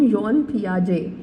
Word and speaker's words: Piaget: cognitive cognitive development from योन पियाजे अच्छा इसे gene या जान नहीं कहना है दिस इ न पियाजे और टी भी साइलेंट होगा फर्स्ट ऑफ ल हम